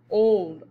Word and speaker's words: old: Old, oh, old.